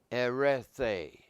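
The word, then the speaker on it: ἐρρέθη: It's pronounced erethe, erethe.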